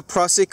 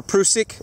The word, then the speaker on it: Prusik: you can tie this this is called a pric or prusik knot uh either pronunciation is correct there's you're not wrong one's not wrong and one's right pric pric same thing tomato tomato potato potato right okay so and then